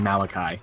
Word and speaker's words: Malachi: miss him for yes it's the second pronunciation Malachi okay you know what I think I kind of prefer that because it otherwise it just sounds like someone saying malarkey both with like a